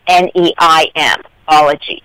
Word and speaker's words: Neimology: Instead, I used the Latin spelling N-E-I-M, ology, even though I still pronounce it Neimology.